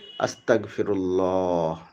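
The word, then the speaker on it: أستغفر الله: আস্তাগফিরুল্লাহ। এটা হচ্ছে বাংলায় উচ্চারণ বলে দিলাম।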